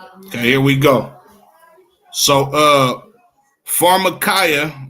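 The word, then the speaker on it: φαρμακεία: Pharmakia. Pharmakia. It's pronounced pharmakia, right?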